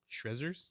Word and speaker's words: Shrezzers: Shrezzers? Mm-hmm. How spell that? Like Shredders, but Z's.